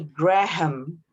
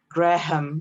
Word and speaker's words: Graham: a h a m if you pay attention she didn't say graham okay indonesian tends to say graham but it's actually graham rachel graham okay sean